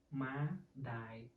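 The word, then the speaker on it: ម្ដាយ: ្ ដ ា យ ma die they sound like die someone dead or some kind like that, but don't mean so, just I want you pronounce correctly.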